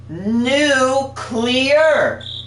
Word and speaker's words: nuclear: nuclear they spell they it's spelled n-u-c-l-e-a-r but they say it as n-u-c-u-l-e-r u-q learn okay please